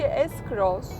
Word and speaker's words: S-Cross: şekilde buradan görebiliyor Suzuki esgross videosu daha önceden eksik 4S krosçu ismi Bu arada esgross olarak artık daha Yalın bir şekilde telaffuz ediyoruz Bence bu ayda akılda